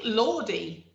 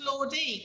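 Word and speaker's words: Lorde: lord oh is it lord i thought it was lordy because it spelt with an e yeah but i don't think you say it i don't remember everyone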